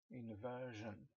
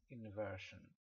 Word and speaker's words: inversion: The word inversion has two different pronunciations in British English. The first one is with the sound J, inversion. And the second one is with the sound sh, inversion.